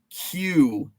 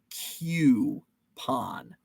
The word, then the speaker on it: coupon: What's a coupon? Coupon. I'm going to stick to my guns. It's pronounced Q-pon. Q-pon.